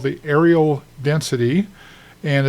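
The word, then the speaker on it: areal: here, we talk about a thing called the aerial density. And it's not spelled aerial like in the air. A R I A L. It's spelled a real aerial, but it's pronounced aerial.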